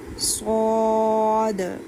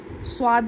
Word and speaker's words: صاد: صاد. صاد. سواد نہیں کہنا، اس کو اسٹرانگ کہنا ہے.